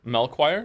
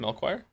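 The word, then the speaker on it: Melchior: Melchoir is how you say his name. Melchoir.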